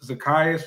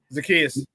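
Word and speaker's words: Zaccheaus: And it sounds like Burton's about to get more involved because uh Zakayas is how you pronounce his name, but Zakius.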